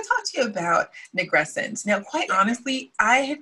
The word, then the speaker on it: nigrescence: literal definition of the word nigrescence. Oh, I'm saying it wrong. Nigrescence. Pardon me. No, it's okay. This is a learning podcast. Yes, so, it is. And you know what? For all I know, I'm not saying it right.